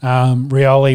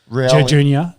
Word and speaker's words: Rioli: Rioli wants to. That's not how you say it now. He's got it. It's announced differently, isn't it? Rioli. Junior. Rioli.